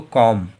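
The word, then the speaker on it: comb: इसलिए हम लोगों का बी साइलेंट बी का उच्चारण नहीं करेंगे क्या इसको कॉम कॉम अब देखो एम के बाद में जब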